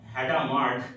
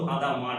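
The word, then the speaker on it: Hadamard: সম্বন্ধে কথা হচ্ছিল হাদামার হ্যাডামার কিন্তু হাদামার উচ্চারণটা মানে স্পেলিং এইডি আর হামারের একটা আছে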